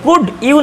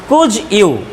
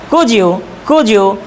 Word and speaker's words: Could you: উচ্চারণটা যদিও হবে আমরা জানি ডির পরে যখন ইয়া শব্দটা আসে, ইয়া লেটারটা আসে, কুড ইউ, তাহলে কুড ইউ না হয়ে এটার কারেক্ট উচ্চারণ হবে কুজ ইউ।